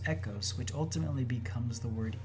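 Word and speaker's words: οἶκος: the greek word echos looks like oikos but it's pronounced echos which ultimately becomes the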